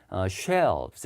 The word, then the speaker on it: shelves: 그리고 L 앞에 모음이 있으면 제가 살짝 넣으라 그랬죠. 읽을 때 shelves 이렇게 발음돼요.